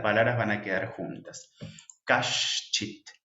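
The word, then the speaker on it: कश्चित्: Kashchit. La C siempre se pronuncia CH y esta es la S de Shiva, SH.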